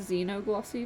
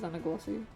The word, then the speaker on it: xenoglossy: can xenoglossy oh xenoglossy also it's a zeno glossy not zanna glossy well if i pronounce